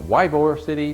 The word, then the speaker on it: Ybor City: One other thing, it might be spelled Ybor City, but it is pronounced Ybor City.